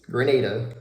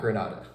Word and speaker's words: Grenada: Number one, once I got there, I learned really quick how to pronounce it. It is Grenada, not Grenada.